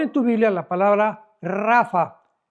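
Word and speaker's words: Rapha: tu Biblia la palabra Rafa. R de Raúl ha de Armando, P de Pedro. H intermedia de Armando, rapa, pero se pronuncia en el hebreo rafa.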